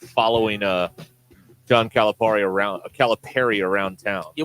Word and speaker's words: Calipari: not following uh John Calipari around caliper around town yeah we we're gonna have to get like an official pronunciation well according to a guy in Cave Springs it's Perry not par Steve Perry that's perfectly